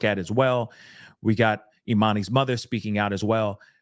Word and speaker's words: E'Manie: It's it's pronounced Eminie Hughes. Okay, E''Manie. Hughes, just like Hughes.